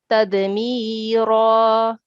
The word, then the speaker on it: تدميرا: Okay, the complete word is tadmira.